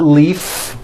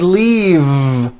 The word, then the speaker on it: leave: is that correct no it's not leaf with an unvoiced f i should have said leave with a voiced v sound fisa she just